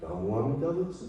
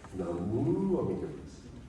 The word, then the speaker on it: Namu Amida Butsu: Well, it's okay, but you don't have to put the emphasis on the mu. You don't have to say Namu Amida Butsu.